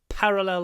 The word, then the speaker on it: parallel: draw two parallel parallel stress on the P parallel lines two parallel lines